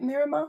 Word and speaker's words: Miramar: And then we're playing the Tedeschi Trucks Band Festival at Miramar Beach. Is that how you say it? Miramar?